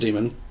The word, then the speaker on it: daemon: But yeah, so I see it and I say Daemon, but it's still pronounced demon, right? And largely speaking, yeah, I'm not actually an expert on ancient Greek or Latin pronunciation. Well, God damn it, Beach, you could have told me this. Demon is how it rolls off the tongue, and I don't think the